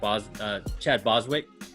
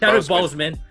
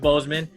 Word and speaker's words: Boseman: This is the homage to Chadwick Boswick. Chadwick Boswick. Am I saying it right? Bozeman. Chadwick Boseman.